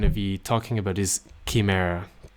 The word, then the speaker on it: Chimera: be talking about is Chimera kimur I don't know how you pronounce this in English we would say Kimera in Spanish so the Chimera represents